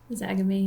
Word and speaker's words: Zagame: I do want to talk about your mom's community, the Zagame. Is that how you say it? Zagame, yeah. Zagame.